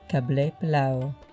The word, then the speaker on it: Qabeli Palaw: An Afghan gentleman actually said the correct pronunciation would be Qabeli Palaw.